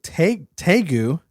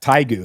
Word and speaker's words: tegu: But now we have this giant lizard called a tegu. Okay. Sure. Okay, tegus. Oh, I didn't know it was pronounced like that. Taigu is how I pronounce it.